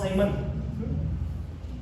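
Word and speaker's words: Siemens: Or you can even use Simon. Some of them they pronounce Simon.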